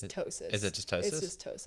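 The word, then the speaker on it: ptosis: where one Tois it's tosis is it just Tois it's just tosis it's a silent P um it's where one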